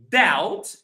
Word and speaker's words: doubt: So that doubt both these words they have a B but we don't pronounce B right. So doubt there is a B that there is a B. So like let's take Sabara for example. This is how we write the word debt. Debt. But we don't pronounce the B.